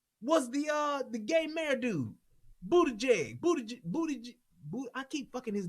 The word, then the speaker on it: Buttigieg: Buttigieg. That's how you say it. Is that how you pronounce it?